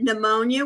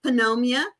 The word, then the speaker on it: pneumonia: I had forgotten about that one, but yes, canitting like the word pneumonia. Why is the P there? Uhhuh. Penomia.